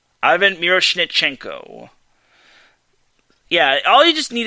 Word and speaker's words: Ivan Miroshnichenko: Mike says me pronouncing Ivan Miroshnichenko was pretty good. I appreciate that, Mike. I'm glad I made you proud. Remember, his name is Ivan Miroshnichenko. Ivan Miroshnichenko.